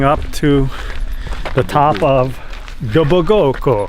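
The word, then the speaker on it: Dobogókő: In the forest, trekking up to the top of Dobogoko. How do you say it? Dobogoko. Dobogoko.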